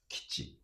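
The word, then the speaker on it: 基地: It's this I is not pronounced. Mm. Okay, so it's kichi. Kichi, kichi, kichi. Mm-hmm. If you pronounce kichi, that sounds Hmm. a bit strange to us. Okay, not It natural. should be pronounced kichi, kichi.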